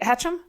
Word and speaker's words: Hatcham: Wait, did I pronounce that right? Hatcham? Okay, good. Hatcham. Hatcham. It's like an SH.